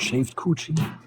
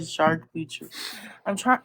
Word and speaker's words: charcuterie: Shaved coochie? I did not say no shaved coochie. I said charcuterie.